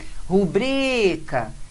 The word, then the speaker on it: rubrica: Rubrica, veja aí, paroxítona que termina em A, é paroxítona.